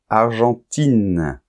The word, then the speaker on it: argentin: vois bien la différence argentin avec la nasale Argentine il n'y a plus de nasal parce qu'il y a un E qui détruit la nasale en fait et on entend I et n argentin Argentine allemand on